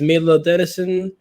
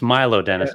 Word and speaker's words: Milo Denison: the cameras vlog kiss my guest today is Millard Edison an author so how you doing today good